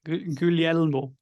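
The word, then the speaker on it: Guglielmo: and important scientist um how do you say his first name Mike gulielmo is that he said yeah yeah it said pretty well oh very nice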